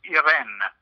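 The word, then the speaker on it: Irène: the work of, and are you saying her name Irene or Iran, or I couldn't pick up how you were actually saying that. In French, it's Irene.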